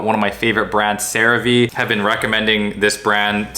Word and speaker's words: CeraVe: i was calling it cerave for most of my medical career it's actually cerave because you have ceramides which is of course in cerave and that's the sarah part the v or ve